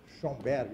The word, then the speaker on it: Schoenberg: Se escreve assim, ó. Schoenberg, eu não sei.